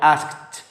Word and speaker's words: asked: ماضي بسيط يبقى I asked اللي هي بي آخرها إيدي لكن تنطق تي.